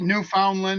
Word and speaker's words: Newfoundland: It's New Foundland. Ah, it is. It's New Finland. Newland. You can pronounce it New Foundland or Newfoundland is what it is.